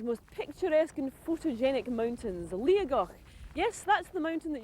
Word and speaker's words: Liathach: pronounce it yoga where the t in the middle should be a g well we're here in torridon to climb one of scotland's most picturesque and photogenic mountains liagok yes that's the mountain